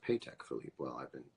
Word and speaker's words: Patek Philippe: Patek Philippe. Is that true? It's pronounced Patek Philippe.